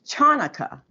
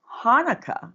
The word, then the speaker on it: Hanukkah: learned that in school but what's chanukkah I'm like it's pronounced Hanukkah and I went through